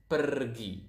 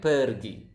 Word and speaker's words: pergi: If you guys speak Spanish out there, I think you will notice that Indonesian pronounce the R quite similar to the Spanish language. To the Spanish. So it's pergi. Again, pergi.